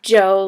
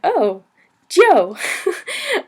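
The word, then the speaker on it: 酒: can pronounce this is It's not like Joe like Hey Joe uh I would say it's more like G and O like G whiz and o Joe um so you say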